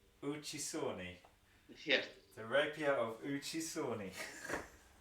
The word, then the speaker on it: Uccisone: Is And it it's pronounced Uccisone. Uccisone?